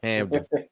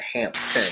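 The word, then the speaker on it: Hampden: So the P is silent. Hamden. Yeah, Hamden. Yep. Hamden, not Hampton.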